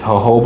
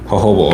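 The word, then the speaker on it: jojoba: greasy I'm using this hovah oil you know what I'm saying y'all let me know yesterday it's not it's not JoJo oil it's hoba oil but it's spelled j OJ o ba hoba oil I've saying it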